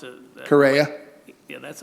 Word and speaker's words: Correia: And you don't pronounce it. Correia.